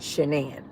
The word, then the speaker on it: Shannon: Some people called her Shannon, but then it was but it's it spelled like Shannon, but they said that she pronounced it Shenan.